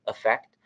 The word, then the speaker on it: affect: And you should all know that the confusion is that they are pronounced the same way with a schwa in the first syllable, affect.